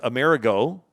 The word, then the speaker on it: Amerigo: The Italian pronunciation of Emmerich is Amerigo, which was the name of Amerigo Vespucci.